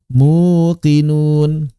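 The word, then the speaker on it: مُوقِنُون: Tapi berat bagi orang-orang Arab mengucapkan domah bertemu ya sehingga ya-nya tidak diucapkan konsonan melainkan diubah menjadi huruf vokal yang sesuai dengan harokat domah. Apa itu? Menjadi waw, muqinun. Begitu.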